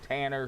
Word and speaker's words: Tanner: So Tanner.